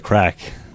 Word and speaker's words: craic: We'll have a tent there as well, and my band called the Craic, which is spelled Craic. Which anybody that's been to Ireland, somebody walks up to you and says, "What's the crack?"